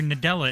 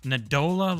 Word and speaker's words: Nadella: I was getting mad at that guy because he just kept saying it wrong and it felt like he was saying it on purpose. It was Da Dela Nadola like stop.